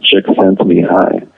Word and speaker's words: Csikszentmihalyi: I think his last name is actually pronounced Csikszentmihalyi, but it doesn't look like that.